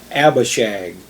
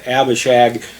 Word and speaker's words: Abishag: young woman for david by the name of abba shag and that's spelled a-b-i-s-h-a-g abba and it means my father